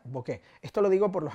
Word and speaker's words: bokeh: si queréis llamarlo así y se pronuncia exactamente de la misma manera que se escribe se hace escribe veo acá es h punto se pronuncia bokeh esto lo digo por